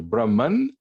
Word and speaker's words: Brahman: wave ocean analogy right either brahman or brahma or brahma some people say it that way right it's just a short a at the end and then brahman is